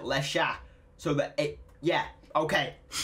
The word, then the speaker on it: Lexa: i did bro apparently the x itself x in portuguese sounds like sha or like sha apparently well i mean obviously because her name apparently obviously you pronounce it lesha so that it yeah